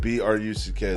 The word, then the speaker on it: Bruck: Bruck, B-R-U-C-K, Okay. like truck or fuck, but with B, B-R. Bruck. Okay.